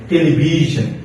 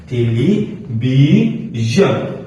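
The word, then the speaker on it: television: ওটা হচ্ছে যদি বাহুলের পরে আপনার HION বা TION থাকে, তাহলে সেখানে হয়ে যায় জন।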